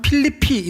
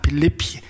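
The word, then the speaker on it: Philippi: 성경 에서 는 이 도시 를 필립 비 라고 부르지만 , 영어 로 는 " 필리피 " 라고 발음 합니다 . 필리피 .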